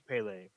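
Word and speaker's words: Pelé: and then last we have uh I believe it's pronounced Pele um I can't speak Portuguese so I believe it's pronounced Pele uh could we put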